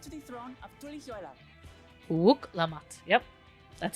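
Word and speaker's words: Wuk Lamat: Wook Lamat. Yep. That's how you say it. I pronounced it at least as good as I can.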